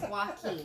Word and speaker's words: Joaquin: His name I'm never going to say it correctly. So the W. It's Joaquin. Okay.